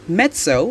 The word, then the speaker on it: mezzo: italian word for strong number three mezzo is pronounced mezzo which means moderately or half number 4 mezzo